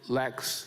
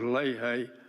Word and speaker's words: Leahy: I was always told it was Leahy, long A's, whatever that means.